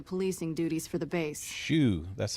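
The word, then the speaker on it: Hsu: Colonel Shu has me handling the policing duties for the base. Shoo. That's how you I've told pronounce him it.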